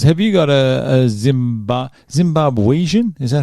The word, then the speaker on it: Zimbabwean: don't like us have you got a zimba zimbabweizen is that how you say it Zimbabwean Zimbabwean no I don't have a Zimbabwean passport